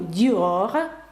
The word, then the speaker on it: Dior: France Tour de France марка одягу Dior Dior бачите R F Та lл - це ті приголосні які наприкінці читаються стосовно літери R Я